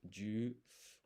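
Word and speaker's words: じゅ: So this ji and yu becomes a blended syllable, ju.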